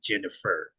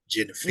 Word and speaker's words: Guinevere: the I guess the pronunciation is actually Jennifer. Jennifer. Yeah. It Oh, like Guinevere kind of, yeah. is the actual pronunciation.